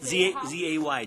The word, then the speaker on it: Zay: Z-A-Y, John Zay, Z-A-Y. Like imagine John Jay, Oh, the John Zay, and then Supreme house Court is a separate Justice with a word. Z. Okay. Yeah, it's Zay house.